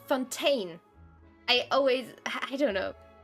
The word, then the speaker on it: Fontaine: say that Fontan Fountain this is why I say Fontan because for me the the the city or the nation should be pronounced Fontan and not Fontaine I always I don't